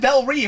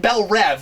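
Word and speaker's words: Belle Reve: Okay, so we sort of have Bel Ree, but everyone keeps calling it Bel Rev. What's that about? Um, in most animated things it's pronounced spell rev and then in live action it's pronounced spell reev.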